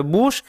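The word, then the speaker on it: bush: বি ইউ এস এইচ এই ক্ষেত্রে ইউ এর উচ্চারণটা কিন্তু উই এর মত হয় এটা কিন্তু মাথায় রাখতে হবে বুশ এবং পি ইউ এস এইচ পুশ এই দুটো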